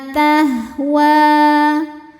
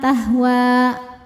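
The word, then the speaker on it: تهوى: Wa ma tahwa. Saat berhenti di wa, hukumnya adalah mad tabi'i. Karena huruf ini adalah huruf alif, alif bengkok ya. Alif didahului fathah maka panjang 2 harokat tahwa.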